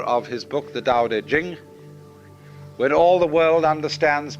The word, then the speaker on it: Ching: it's pronounced du and Jing there is no apostrophe after the CH so if there were it would be pronounced Ching but it's Jing like a j and so Jing in